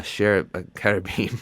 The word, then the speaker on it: cherubim: into it, you're going to run into a cherubim. How do you pronounce it?